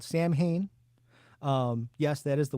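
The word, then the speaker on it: Samhain: original Misfits then he started a band called Sam Hayne um yes that is the way it's pronounced because Glenn dadzie is from Lodi New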